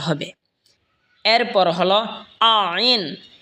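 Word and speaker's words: عين: এই তিন হরফ একই জায়গা থেকে উচ্চারণ হবে। এরপর হল আইন। আইন হলকের মধ্যখান হয়তো উচ্চারণ হবে।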